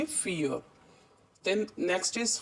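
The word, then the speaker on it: vier: तो पता है हमें कि वी को हम फा पढ़ते हैं, इसलिए हम इसे वियर नहीं पढ़ेंगे, इसे हम पढ़ेंगे फियर.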